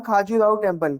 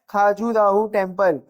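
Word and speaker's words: खजुराहो: अ few line on खाजूराहो टेम्पल। किसके बारे में बोल रहा है? खाजूराहो टेम्पल या खजूराहो टेम्पल, जिससे जो प्रोनाउंसिएशन होता है वो करना हमारे इधर ऐसा ही चलता है।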